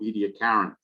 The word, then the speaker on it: Ediacaran: fossil bed for the Ediacaran. And there is some question, even in Australia, as to exactly how you should pronounce this name. Is it Ediacaran or Ediacaran? I've heard both. I prefer Ediacaran myself.